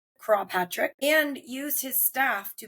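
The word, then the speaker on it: Croagh Patrick: Patrick stood on a hill, often said to be Craw Patrick. It's Croagh. I'm assuming that's how you pronounce it. Craw Patrick.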